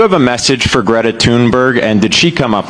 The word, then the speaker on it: Thunberg: that don't involve Greta Tunberg. Is there research that shows has she always said her name that way? Because I feel like somebody else just said Tunberg. Is that how you say it now?